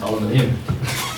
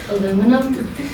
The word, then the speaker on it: aluminum: So I would like to ask you, how do you pronounce aluminium? Aluminum, the correct way.